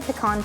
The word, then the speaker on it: pecan: no one said and I'm about to pronounce this controversially no one said pecan pie wow which is surprising pecon pie is so good